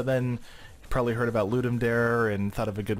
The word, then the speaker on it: Ludum Dare: It's a Ludum Dare. It's kind of the pronunciation. It's not like a dare. It's the Latin for give. So it's kind of Dare. So Ludum Dare, you can get to